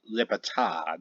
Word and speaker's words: Libertad: I've been thinking about operation Liberty or operation libertad that is actually pronounced but in English it's operation Liberty where